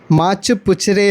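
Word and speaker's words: Machapuchare: മാച്ചു പുച്ചരെ എന്നതാണ് ഇതിൻ്റെ യഥാർത്ഥമായിട്ടുള്ള ഉച്ചാരണം. മീനിൻ്റെ വാല് എന്നാണ് കേട്ടോ അതിൻ്റെ ഇവിടെയുള്ള അർത്ഥം.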